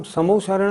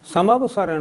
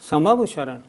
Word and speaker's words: समवशरण: पहली बात, तीर्थंकर भगवान की जो सभा लगती है उसका नाम समोशरण नहीं, समवशरण है। हम सब लोग उसका उच्चारण करते हैं समोशरण, नहीं, समवशरण।